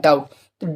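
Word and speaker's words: doubt: डाउट ठीक है तो यहां पर भी देखें बी के बाद में क्या आया है टी तो यहां पर बी क्या है बी हो जाएगा साइलेंट ठीक है तो थ्योरी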